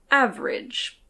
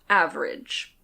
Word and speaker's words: average: For example, this often happens to a syllable if the next sound is a /r/, like in "average". There's a schwa followed by a /r/. As I said, you can say "av-e-rage" or "av-rage".